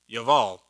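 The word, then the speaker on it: יבל: and uh adab bor the j's in hebrew sound like wise and the b sound like v's so it when it's in the middle of the word so yaval and it means stream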